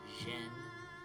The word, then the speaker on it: Xen: It's pronounced more like Jen than Zen. Xen.